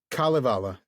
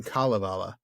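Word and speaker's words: Kalevala: Kalvala. Kala. So the emphasis is on the first Yeah. I think I've always said Kalvala in the past. Kind of. I had too. And I started hearing Kalivala.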